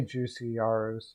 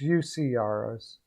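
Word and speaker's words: Juuse Saros: and abs i know i always say juicy yarus it's ucros i know yeah juicy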